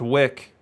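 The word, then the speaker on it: Wieck: up on a cub i should definitely know that's pronounced wick i'll wear it sandy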